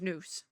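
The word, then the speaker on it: Nous: Is it Nos or Noose? It's Noose. Okay, like moose, but with an N.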